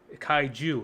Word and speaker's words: kaiju: out and you know the way i learned it kaiju was like kyle from south park and he's a jew that's how i learned how to say it that i just knew